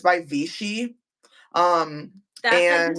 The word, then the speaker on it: Vichy: And it's by Vichy.